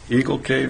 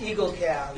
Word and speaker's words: Eagle Cab: So we'll move on to the public hearing of the liquor license transfer of the Shoreliner to Eagle Cave LLC. Am I pronouncing that correctly? It's Eagle Cab.